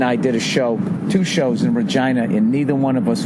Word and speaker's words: Regina: that Nate and I did two shows in Regina, and neither one of us went with the easy joke. Nobody did the stupid, it rhymes with fun. Nobody's like, Regina, vagina, what's up with that?